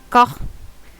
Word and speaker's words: Gogh: Gogh. I always say it wrong. I need to remind myself it's like not English.